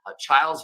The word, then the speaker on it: Chiles: It's the Chiles Valley, actually, is pronounced correctly there.